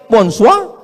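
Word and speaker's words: bonsoir: Bacanya bonjou. Bon soir, bonsoa.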